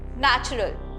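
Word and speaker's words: natural: लेकिन हम इसको एन ए सी एच आर ए L pronounce करते हैं। नेचुरल। यहां पे टी और यू का जिक्र ही नहीं हो रहा क्योंकि प्रोनाउंसिएशन बहुत डिफरेंट होती है।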